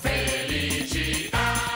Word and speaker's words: Felicità: Felicità, ta, ta, l'accento sulla A.